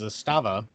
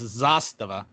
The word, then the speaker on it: Zastava: That everybody in America mispronounces is Zastava. It's Zastava.